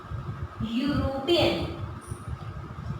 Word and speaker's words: European: Like when we pronunciate it, we will speak U, European.